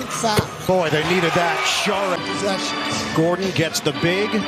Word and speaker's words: Šarić: Šarić.